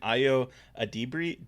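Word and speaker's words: Ayo Edebiri: Ayo, I'm going to mispronounce her name. Ayo Adibiri, yeah.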